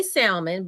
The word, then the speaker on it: salmon: that L on itcb said the L is silent listen let me tell